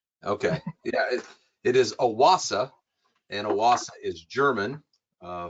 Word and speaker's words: OASE: Yeah, it is Aasa and Aasa is German uh for Oasis. So that is the proper pronunciation and the meaning behind it.